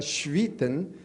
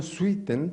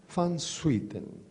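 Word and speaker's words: van Swieten: Sen se escribe con SW, pero yo averigüé que no se pronuncia schwiiten, sino seten, porque es de origen holandés. Entonces los holandeses lo dicen el varón. Van Suiten.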